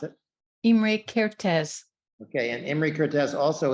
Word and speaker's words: Imre Kertész: And can you pronounce his name for me so that I don't mispronounce it? Imre Kertész.